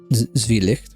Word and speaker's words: Zwielicht: no, it is German, which would then make it Zwielicht, right? That's how you say it in German. Because one of the rules of German is when you have an I and E together, you say the sound of the second one.